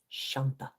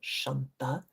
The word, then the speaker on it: Shanta: So, 137 is Shanta. And this means she who is peace, like Shanti, but different, Shanta.